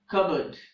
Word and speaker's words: cupboard: tire a pneumatic tire the following words having PB combination in the middle also have a silent P like cupboard it's not good it's